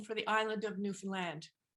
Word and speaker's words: Newfoundland: is the migmog name for the island of Newfoundland it's the name in the upper left-hand Corner